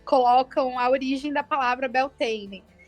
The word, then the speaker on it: Beltane: E aí foi que eu descobri que é a pronúncia gaulesa de Beltane, né? Não sei se vocês já sabiam disso ou souberam nesse livro, mas é Beltane.